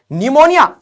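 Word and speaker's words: pneumonia: लगाओ नी ये के जबरदस्ती लगाना पड़ेगा के साइलेंट है नी ओके निमोनिया तो ये ऐसे हो जाएगा अरे ये तभी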